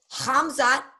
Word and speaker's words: Khamzat: Khamzat. So it's spelled Khamzat.